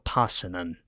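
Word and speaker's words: Paasonen: And we've also got Yanni Passin as being our other choice or Passin as it's supposedly pronounced.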